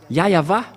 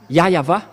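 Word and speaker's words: Yahweh: ici chez les Orientaux il prononce vraiment le W par un V ou par un B c'est ici qu'on voit clairement que le W et bien un V mais ce sont les Occidentaux qui l'ont changé en mais pour les Orientaux il prononce bien le W en tant que V mais c'est le V qui est vraiment la bonne prononciation et c'est pourquoi ils ont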